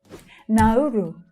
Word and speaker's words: Nauru: Nauru. 3 syllables here, and the second one is stressed.